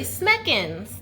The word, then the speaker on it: Smekens: Smekens.